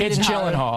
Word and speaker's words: Gyllenhaal: fun and you know regardless of my last name or how to pronounce it okay yeah Jake you jillen Hall and sometimes people call